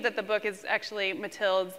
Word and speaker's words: Mathilde: But in the second half, we found out that's so much more complex that, I'm sorry, I'm mispronouncing her name, Mathilde? That's how I say it, but you can say it however you like.